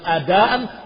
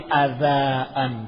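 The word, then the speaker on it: أداءً: Fa'ajamad dal, akhirnya dia membacanya bukan adaan tapi adaan pakai dal.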